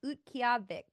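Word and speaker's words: Utqiaġvik: a lot I have the new name it's UT kavic that's how you say it I looked it up beautiful pronunciation yeah that's it's interesting that the town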